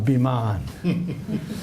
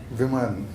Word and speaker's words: Viman: Next level of Biman, right? Yeah. How do you say it properly? Viman. Viman, yeah, Viman, yes. So possibility is there, and